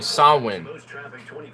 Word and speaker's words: Samhain: I know you're saying how you say so win though it's spelt like Samhain for some reason because